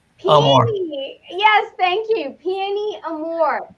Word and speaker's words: Peony Amor: Peony Amor.